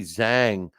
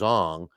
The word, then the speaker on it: Zhang: Joseph Parker beat Zili Zhang, or actually it's pronounced Zong, in their fight.